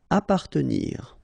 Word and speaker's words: appartenir: Appartenir. Okay, double P. Basically, you don't pronounce the double, so you just pronounce appa.